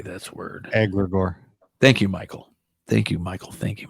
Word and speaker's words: egregore: Egregore.